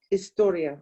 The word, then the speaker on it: historia: Remember, H is silent. Historia.